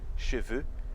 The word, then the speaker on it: cheveux: Cabelos, né, no plural, cheveux, termina com EUX. E cavalo, chevaux, termina com AUX. Então, tem uma diferença na pronúncia. O final de cabelos é E. E o final da palavra cavalos é O. Como se fosse o O com acento circunflexo também.